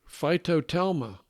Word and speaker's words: phytotelma: How do you pronounce it? Phytotelma.